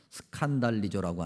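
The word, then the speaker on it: σκανδαλίζω: 헬라어 발음으로 하면 스칸달리조라고 하는 단어인데 걸려 넘어진다, 그런 의미를 갖고 있습니다.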